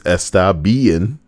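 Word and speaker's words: Estabein: clan called estabien but it's not spelled bn it's spelled b-e-i-n so it's estabean do you think they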